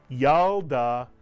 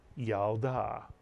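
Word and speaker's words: ילדה: you get y mitsu the shv under the lit is silent it tells you to Simply add the L to the preceding vowel and letter the Y and the to create the first syllable yal the second syllable da and if you can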